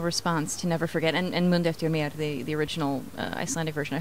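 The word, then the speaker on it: Mundu eftir mér: What has your reaction been to the international response to Never Forget and Mundo Eftir Mér, the original Icelandic version? I hope I'm pronouncing that close to correctly.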